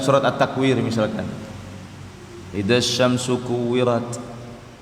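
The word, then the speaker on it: كُوِّرَتْ: At-Takwir misalkan, idza syamsu kuwirat, kemudian dibacanya agak mirip huruf E, kuwirat, ya, dan seterusnya, diulang-ulang satu ayat.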